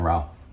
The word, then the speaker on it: Routh: I used to think it was Brandon Routh, but it's Brandon Roth, I believe.